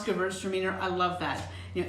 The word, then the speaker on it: Gewurztraminer: see somebody saying that girls are meaner or girls or wieners that's a good way to remember how to reverse how to pronounce Gewurztraminer I love that you